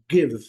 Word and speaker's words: give: Give, give, give, letra E, sem pronunciar.